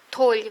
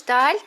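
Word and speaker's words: tall: Толь, высокий. А таль, толь, да? Пишется, видишь, таль, две буквы, а читается тол.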